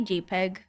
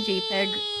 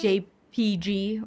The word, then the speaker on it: JPEG: I okay I say jpeg I say jpeg not jpg or anything but I do but but but the E is not there and so whenever I see like jpeg without the e I